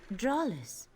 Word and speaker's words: Dralis: Dralis. Dralis, Yes, that's how you say it.